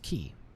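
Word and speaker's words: Quay: candle keep quiet key that's that's pronounced key recently left candle keep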